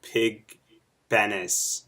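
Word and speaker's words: Pig Venus: have a character called Pig Venice ah it's actually it rhymes with Venus that's right it's pig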